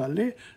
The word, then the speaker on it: allez: The Z is not pronounced. How are you? Je vais, tu vas, il va, nous allons, vous allez, ils vont.